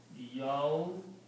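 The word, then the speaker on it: يوم الدين: So the word now is Yawmuddini. Okay. And this alif is not pronounced, so we just put a swad on it. So Yawmuddini.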